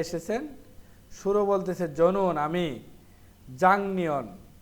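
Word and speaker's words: 작년: শুরু বলতেছে জনুন আমি, জাংনিয়ন, এটা কিন্তু জাকনিয়ন হবে না, গিয়ক বা ছেমের পরে নিয়ন থাকলে গিয়কটা ইয়ং হয়ে যাবে, তাহলে সঠিক উচ্চারণ হবে জাংনিয়ন।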